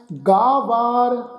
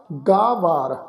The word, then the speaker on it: गावार: इत्थे उच्चारण करांगे जी दातार, जे को होए बह दातार, तिस देनहार जानै गावार, गावार दातार गावार, इनू गवार दतार इस ढंग नाल उच्चारण नहीं करना।